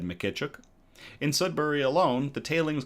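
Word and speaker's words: Mykytczuk: It's Ukrainian origin. Ukrainian surname Mckituk. Okay. Mkituk mkituk mkituk mkituk.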